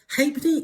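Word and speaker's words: halfpenny: Hapney is spelled h a l f p e d n y.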